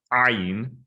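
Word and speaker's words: עין: But there's a slight difference in that ayin is correctly pronounced, or at least in the Yemenite tradition, correctly pronounced with a glottal stop, where you actually momentarily release the glottis at the back of the throat. So it is ayin, like that.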